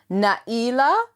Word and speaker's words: Nailah: It's actually pronounced Nailah. It's got this letter called Hamza in the middle, which like breaks the word.